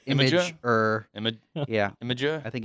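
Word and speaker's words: Imgur: to address that question so it's not in ger but supposed to be pronounced like imager cheers Hans there you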